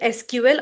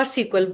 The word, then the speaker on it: SQL: Most of the people call it SQL as well, so we can pronounce it SQL or SQL. Both are completely correct.